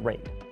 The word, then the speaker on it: RAID: And yes, I know it's pronounced RAID.